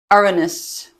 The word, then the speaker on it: Uranus: Despite what my husband and my 13-year-old son call it, that is how it's pronounced. And it's actually spelled a little bit different. It's like Uranus, Uranus.